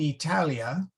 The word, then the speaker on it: Italia: have to say in Italia with a long a and we have to say with a long a and uh let's see